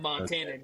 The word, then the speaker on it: Montanan: Is that how you say it? Montanan, yeah. Yeah, I got to spend a few more years here until I can claim Montanan.